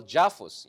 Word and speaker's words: JAFUS: And then, of course, what we have now is what I call JAFUS. It rhymes with AUKUS, right?